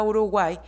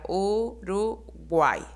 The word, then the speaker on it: Uruguay: Cuando hablamos de la palabra Uruguay, podemos decir que la Y se considera una vocal débil porque su pronunciación al momento de pronunciarlo suena como una I.